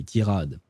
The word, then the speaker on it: tirade: I'll pronounce it the French way, tirade, because we use the same word.